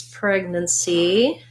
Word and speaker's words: pregnancy: pregnancy how to pronounce pregnancy first syllable stress preg then see so even though we see like the name nancy here with the av vowel because we're stressing on preg uh we don't have